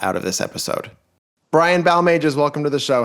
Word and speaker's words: Balmages: But my name is Brian Balmages.